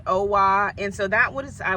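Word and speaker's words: OWA: it OA OA it's o w with is pronounced OA and so that was I would say is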